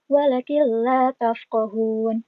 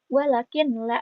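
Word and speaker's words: وَلَٰكِن لَّا تَفْقَهُونَ: Dan perlu diingat juga cara bacanya bukan walakin la, bukan ya. Walakin la, karena ini ada nun mati. Nun mati itu kan jadi N ya. N ketemu lam. Jadi bukan walakin lam, tapi walakil lam. Nah, kayak gitu ya. Walakil la tafqahun.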